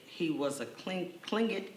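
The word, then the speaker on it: Tlingit: he was a clean clingit indian pronouncing proudly with the clinking of his tongue as if saying clink looked he was built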